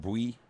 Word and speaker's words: Bui: If I That's how remember you pronounce correctly. it, Bui? Yes. Bui.